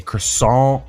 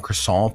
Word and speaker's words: croissant: So, this is a croissant crust. Just say it like a real American. Croissant. I am a croissant. Crescent. I mean, you aren't saying the T.